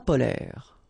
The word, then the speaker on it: polaires: So same thing here. E and S are not pronounced.